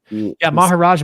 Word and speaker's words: Maharaj: Maharaj means Raj means king. I thought. Yeah. There we go. It's a J sound, like Maharaja, Indian king.